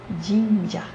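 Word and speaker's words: 神社: E no caso do jinja, o acento é no ji. Jinja.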